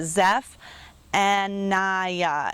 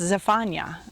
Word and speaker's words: Zephaniah: said that zephaniah in in english we would pronounce it zeph and naya and so i put that on the screen to help you sound that out but in hebrew it's zephaniah very different another example would be